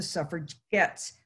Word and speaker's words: suffragettes: han's intended insult and called themselves the suffragettes with a hard g to signify that they